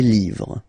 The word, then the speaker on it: livres: You just write livre, and then you put S at the end, but then you don't pronounce it. Les livres.